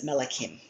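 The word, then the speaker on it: מלכים: We would transliterate this word as melakim. Melikim, kings, the kings.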